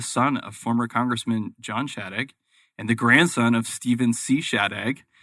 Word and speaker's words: Shadegg: And we're super excited to have a guest on today, Stephen Shadegg, who is did I pronounce that right?